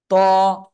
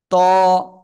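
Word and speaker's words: ط: ত, জিহ্বার আগা উপরে দুই দাঁতের গোড়ায় লাগান, লাগিয়ে মোটা আওয়াজে উচ্চারণ করতে হবে। ত, ত, সবাই একসাথে উচ্চারণ করেন।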